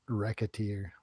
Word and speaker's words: Recettear: think it's pronounced racketeer, like racketeer. Racketeer.